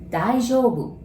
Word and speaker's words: 大丈夫: And you notice there's O-U together, so you pronounce it like O, right?